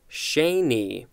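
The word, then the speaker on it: Sheni: dar Shanny and this is pronounced Shanee a dar Shanee and the second part is spelled sh e and i noun from 1891 I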